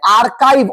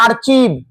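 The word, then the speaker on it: archive: আর এই ব্লগের এই পাশে তোমাকে আর্কাইভ, অনেকে বলে আর্চিভ, এটা আর্কাইভ। কি উচ্চারণ? আর্কাইভ। রিপোর্ট অ্যাবিউজ, অর্থাৎ এই আর্কাইভ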